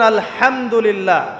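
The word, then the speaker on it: الحمد لله: আলহামদুলিল্লাহি রাব্বিল আলামিন। এইতো আপনি পড়ছেন আলহামদুলিল্লাহ। শব্দটা কি? আলহামদুলিল্লাহ। এই হা এর মাখরাজ কোথায়? হা এর মাখরাজ কোথায়? বলেন একজন কন্ঠনালীর মাঝখান থেকে এখান থেকে আপনি উচ্চারণ করছেন আলহামদুলিল্লাহি রাব্বিল আলামিন অর্থ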